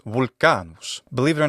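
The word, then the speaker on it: Volcanus: and mythological connections therein in Latin vulcan's name is volan believe it or not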